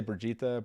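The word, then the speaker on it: Birgitte: the conversation going about burgeeta i would say brigitte brigitte it's pronunciation uh no thank you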